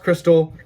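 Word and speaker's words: Xtal: crystal the opening song just pronounced crystal because it's like x and x-mas it's like christmas it's crystal i saw that youtube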